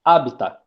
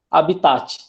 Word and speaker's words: habitat: Se você pronunciar ela como 2 paroxítono, vai ficar habita. É isso? Mas eu não ouvi ninguém pronunciando da forma como falam, todavia. Habitat. Não é assim que vocês falam?